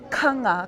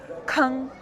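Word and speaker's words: ཁང: ka nga kang kang And again, it's very terminal. I don't say kang, I say kang.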